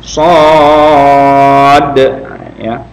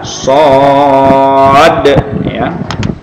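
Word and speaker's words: صٓ: matiku di sono De Ya sonde jangan sok boleh gitu ya kalau yang belum belajar Oh gitu ya salah Jadi yang tepat adalah shot deh nah ini sering kalau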